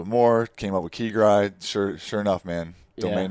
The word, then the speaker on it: keGri: more came up with keygrid sure enough man domain name was available got the ig handle key guy official yeah right yeah dude it's two syllables it's that two syllables yeah no doubt no